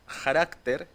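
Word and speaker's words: χαρακτήρ: primera palabra está aquí es la 5481 se pronuncia carácter y es la traducción de la imagen misma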